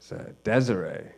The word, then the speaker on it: Desire: And I was named after his grandpa, so it's French Canadian, so it's the masculine spelling because I got like a dick and stuff. And so the way it's spelled is there's no accent on it. So the way it's spelled is D-E-S-I-R-E. Desire.